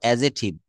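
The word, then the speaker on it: adjective: এটা কিন্তু এডজেক্টিভ বলবো না। এটা বলব এডজেক্টিভ। এডজেক্টিভ। এখানে ডি কিন্তু সাইলেন্ট লেটার।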